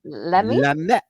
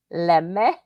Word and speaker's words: Lamy: Is that how you pronounce it? No, that's Lamy. Lamy.